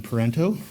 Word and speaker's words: Parenteau: And I'm also introducing JoLynn Parenteau, rhymes with Toronto, I got to remember that, from Medicine Hat.